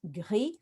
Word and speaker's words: gris: Okay, so this is when you start to introduce the idea that most E's in French are silent on the ends of French words, and most consonants are silent. So when we look at gris, for example, they will be surprised to see the S there, and oops, and in